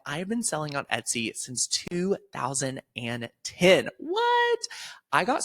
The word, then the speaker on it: Etsy: have been selling on Etsy since 2010 what I got started in 2010 on Etsy and I used to pronounce it EA I couldn't even pronounce it right but I was selling